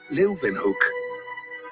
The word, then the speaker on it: Leeuwenhoek: L-E-Y, Leuven, se pronuncian con una B, Hoek, Leuwenhoek.